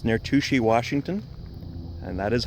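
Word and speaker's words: Touchet: owned by Florida Power and Light it's near to she Washington and that is how you pronounce it I know it's spelled touche near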